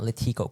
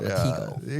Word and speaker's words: Latigo: It's not Latigo Canyon. It's Latigo Canyon. Latigo. Yeah. Well, Latigo would be the Spanish correct way to say it. Really? Friend. Are you really? But if you're from California, you say Latigo. Oh, I thought it's Latigo. It's kind of like retina. Like Latigo.